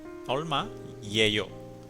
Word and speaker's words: 얼마예요: So this is ol ma horsey olma yeyo.